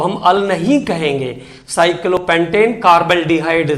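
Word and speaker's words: carbaldehyde: Carbon है CHO का, उसका प्रोनाउंसिएशन हमें कार्बल्डिहाइड जैसा करना है। इट is pronounced as कार्बल्डिहाइड।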